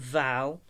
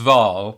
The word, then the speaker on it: Vaal: he's the eyes of Val how sometimes it's pronounced vaal which is logical because it's v-a-a-l and sometimes particularly by